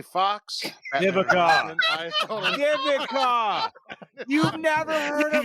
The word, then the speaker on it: Vivica: Vicola. Like fucking what the? Vivica.